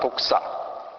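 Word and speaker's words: δόξα: 나라 바실레야고 하는 부분과 권세 어 디나믹스 디나미스 그다음에 영광 독사 독사가 그 발음이 헬라 발음으로 영광을 독사라 그러는데요.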